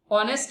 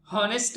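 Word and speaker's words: honest: आवाज क्या आती है, ऑनेस्ट मैन बोलते हैं हम। हॉनेस्ट मैन गलत प्रोनाउंसिएशन है इस शब्द का, अगर कोई बोलता है तो वो ठीक कर ले।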